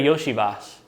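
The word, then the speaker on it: Iosivas: Uh, yeah, because it's like a it's like a sh. Well, you you say shu instead of a s.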